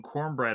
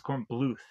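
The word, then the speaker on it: Kornbluth: And one of the guys end ends up calling him cornbread or corn beef and uh he corrects him that it's pronounced cornlof. So it's corn bluth.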